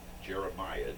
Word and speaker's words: jeremiad: a d on the end how do you spell that j r e m i a d jeremiad oh what does that mean is our word